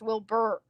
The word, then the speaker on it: Wilbur: of his um name it's just bird it's not heart it's will burr it's ghost bird it's not hard wilbur scott have you